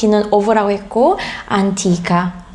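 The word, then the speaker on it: antica: 에어를 들어보시면 안 끼 까 라고 하지 않고 안티카 얘도 안티 땋아 1 안티카 약간 좀 아 우리나라의 아 그 쌍 장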